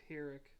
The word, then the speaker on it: Pyrrhic: It's pronounced Pyrrhic.